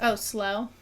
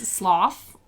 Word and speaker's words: slough: like the word Slough I like just recently learned how to pronounce that word is slow I always thought it was a sloth but it's Slough which I'm like I feel